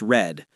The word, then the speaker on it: read: Spelled the same but pronounced red.